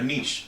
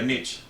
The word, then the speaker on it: niche: So the first thing that you're going to need is to pick a niche or a niche, however some people want to pronounce it.